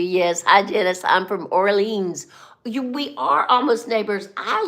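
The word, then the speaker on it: Orléans: If you email me, and if I come to Orleans, no, it's not Orleans, it's Orleans.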